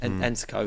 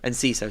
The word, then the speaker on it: Enciso: So this guy, Ensico, how do you say his name? Enciso, sorry.